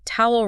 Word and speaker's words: towel: And quickly, let's note that towel rhymes with the bird owl, not a toll booth on a highway.